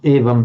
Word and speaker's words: evam: Here we've got anuswara, evam, before a p, and there's no doubt or dispute about that. It's going to be pronounced as a m, evam paravasham, evam paravasham.